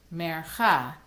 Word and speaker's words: Mercha: As each of these trope symbols actually has a name, if you've noticed, they all have the syllable, their accented syllable on the end. Mercha, tipcha, mercha, Sok Pasuk.